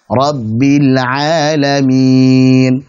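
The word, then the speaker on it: رب العالمين: Jangan sampai ketika ditutup jadi rabbil a, berarti salah. Jadi rabbil a salah. Rabbil alamin.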